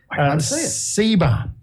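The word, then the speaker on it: Tseba: I think the T is silent. T-S-E-B-A. Yeah.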